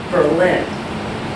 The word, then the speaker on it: Berlin: it's late 1917 and is accented on the second Berlin for some reason things